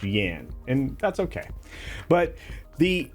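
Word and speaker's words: Jann: so a pair apparently it's supposed to be pronounced Yan and that's okay but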